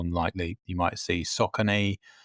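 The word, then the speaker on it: Saucony: likely you might see Sakin sometimes pronounced Sakonei or Mazuno there's there's a lot of there's a lot brands out there.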